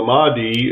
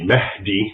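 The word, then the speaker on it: Mahdi: Islamic expert Raymond ibraim so the Mii as as an English speaker would pronounce it it's really MDI which basically means guided so he's the guided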